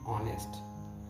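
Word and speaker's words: honest: पर यहां पर बीच में ऑनेस्ट आया है एन ऑनेस्ट तो यहां पर स्वर लेगा कौन सा ऑनेस्ट का आप स्वर देखिए उसका उच्चारण क्या हो रहा है उसे आप देखेंगे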